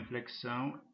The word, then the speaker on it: inflexão: Da mesma forma, inflexão tem encontro de dois sons, de dois fonemas.